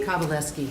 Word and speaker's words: Kowalski: Kowalski, that's okay. That W is pronounced as a V.